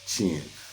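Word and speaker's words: Qin: the state of chin it's spelled q-i-n you will see it in the text however it is pronounced chin and Chin ultimately became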